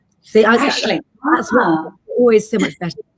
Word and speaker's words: Aisling: I think that's actually Ashlyn. I think that's how you say it. Aisling. See, Aisling.